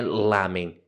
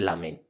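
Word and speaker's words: ラーメン: Então, tipo, o japonês ele é sempre oxítono. A sílaba forte é sempre a última. Então não é lamen, é lamen.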